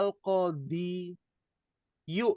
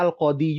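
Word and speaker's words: القاضي: Bacanya al-qadhi juga sama. Nggak bisa al-qadhiyu, nggak bisa.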